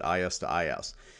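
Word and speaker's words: IS-IS: there today OSPF and is - is and I know there's no - in the middle of that but you do pronounce that is - is now it's primarily used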